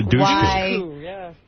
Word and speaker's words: Dushku: Did you get goofed on for your name, douche? Because the word douche is in your name? It's actually Dush like push. Yeah, but nobody knows that. Everyone says Eliza Dushku.